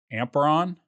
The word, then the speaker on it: Amperon: on and let me see if i can pronounce this right amperon you got it there we go i mean